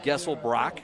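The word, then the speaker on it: Geselbracht: the visiting quarterback Noah gessel Brock gessel Brock spelled g-e-s-e-l-b-r-a-c-h-t the tea is salad the tea is silent he's a 65 passer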